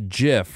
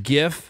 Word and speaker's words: GIF: mean it's GI yeah GIF is the correct way to say it but from the guy who from the guy who invented it but I had just a bunch of groans in this room about it because the people argue where the G stand for graphical a hard G not a soft G okay yeah jerks girks